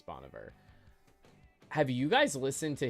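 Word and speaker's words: Bon Iver: Does anybody here listen to Bonver or like people call him a million different things? Apparently, supposedly that's the proper way to pronounce it is Boniver.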